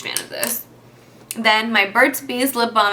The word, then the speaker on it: Burt's Bees: Then my Burt's Bees lip balm. I finally learned how to say this right because you guys were like, no, it's not Burt's and Bees, but I don't even